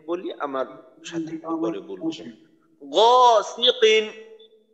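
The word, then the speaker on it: غَاسِقٍ: গরম মতো গ গিকিন অর্থাৎ বাংলা গ বর্ণের মতো যেন উচ্চারণ না হয় গ খুবই মোটা করার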